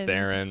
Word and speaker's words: Theron: midwest now Charlize Theron as Cipher Baron it's pronounced there it's Theron my bad I hate that she should just